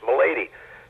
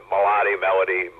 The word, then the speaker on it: Milady: And my real last name is Milady, and which is everyone mispronounces as God knows what, Melody, on and on.